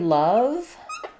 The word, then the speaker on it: love: Um, so in the word love, the letter O doesn't say an O. It actually says an sound. So it's the same that we would have in a word like um, summer as we spell it with U. Lots of words have letter O as schwah.